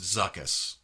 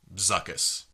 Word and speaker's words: Zuckus: So let's say it however we want to, but we can all agree that this is pronounced Zuckus. Hasbro. Zuckus.